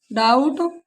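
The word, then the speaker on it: doubt: डी ओ यू बी टी, यहाँ भी बी के बाद टी है तो इसे पढ़ेंगे डेट, यहाँ बी साइलेंट है। डाउट, debtor.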